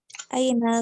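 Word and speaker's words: أين: Aina kan nggak ada alifnya nih. Jadi tidak usah dibaca panjang.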